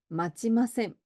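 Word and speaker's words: 待ちません: 마치마셈, 마치마셈. 우리 요 츠가 치가 되는 발음 좀 쉽지 않으실 수 있었는데요.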